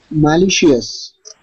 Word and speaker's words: malicious: So the C-I-O-U-S is pronounced like shus.